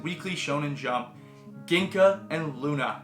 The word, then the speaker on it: Gluna: Shonen Jump, Ginka and Luna. Not Ginka and Gluna, the G is silent.